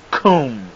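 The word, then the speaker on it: קוּם: We went through this before, and it's pronounced koom, K-O-O-M.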